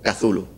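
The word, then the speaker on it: Cthulhu: leído en mi cabeza lo he imaginado como cazulo que suena un poquito menos agresivo cuesta menos pronunciarlo se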